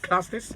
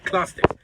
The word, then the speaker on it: Klastes: Yes, Is it Klastes? Yes. Great. Klastes. Okay, is a video content creator. Klastes, the video content creator, and the CEO of what?